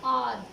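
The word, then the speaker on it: hour: it takes me एन आर, आर एच ओ यू आर spelling है, लेकिन ये एच क्या है, साइलेंट है, और आवाज़ किसकी आ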